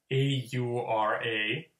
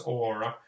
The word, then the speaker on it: aura: Finnish word, for instance, there's a word called aura, A-U-R-A. So the English would say it aura, like a person has aura. The Finnish word aura, Wow.